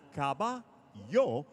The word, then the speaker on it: caballo: Please download the Telemundo Texas app and now, for today's word, caballo, meaning horse, pronounced caba-yo.